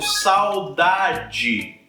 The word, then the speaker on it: saudade: então vou pegar uma palavra aqui por exemplo Saudade saudade Ok saudade é diferente de dedo dedo